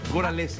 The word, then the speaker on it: Goralewski: ¿Se pronuncia bien, Cristina? Sí, súper bien. Goralewski. Se pronuncia más fácil lo que se escribe.